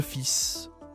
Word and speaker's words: fils: Donc deux fils, c'est de son. OK. Le fils, attention ici à la prononciation, ce n'est pas le fil. Ici, tu ne dis pas le S aussi et tu prononces le S.